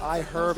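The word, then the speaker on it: iHerb: I am cold that I am supposed to pronounce that I herb emphasizing eh be calm and then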